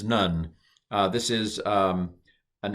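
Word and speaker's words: נ: bet gimmel dalit hey this is not a nun but this is none uh this is um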